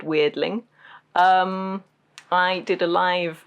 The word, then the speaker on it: Weirdling: are called strange things this one is literally the word weird with Ling on the end like that cling so it's just a